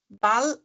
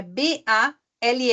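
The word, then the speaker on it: Ball: dar um exemplo Bal Bal é bola então é b a l l Bal então aí se fala bem rápido Bal não fica Bal que nem antes do Bat Bat que eu tinha dado o exemplo né que ele era compridinho Bat não é Bal bem pum pum pum ah por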